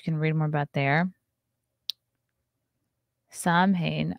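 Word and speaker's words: Samhain: read more about there Sam Haan oh pronounced sawin or sawin is a gaic word that roughly translates to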